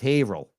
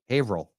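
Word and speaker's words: Haverhill: don't say Danvers danvas it's not ha Hill it's havil havil what all right I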